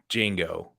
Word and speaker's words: Django: think it's actually probably Django damn you Django um ah the D is silent that one was so